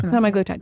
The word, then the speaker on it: semaglutide: that how you say it semi glutide yeah semi glutide it's like the one of the brand names